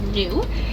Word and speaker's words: Gnu: Now, wildebeest are known by a second name, and that's Gnu. That's spelled G-N-U, and that comes from the grunting sounds that they make.